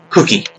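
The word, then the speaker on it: Kuki: His name is K-U-K-I, and it's pronounced Cookie.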